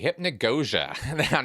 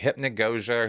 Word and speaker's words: hypnagogia: Okay, hypnagogia. Now, I might be mispronouncing that for some folks out there. I looked it up, actually, so I think I'm saying it right.